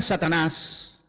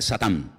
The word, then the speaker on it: Satán: Y luego aparece en el versículo 10 la palabra la palabra La palabra Satanás que significa adversario es un nombre que viene del hebreo. En hebreo no se dice Satanás, se dice Satán y significa adversario.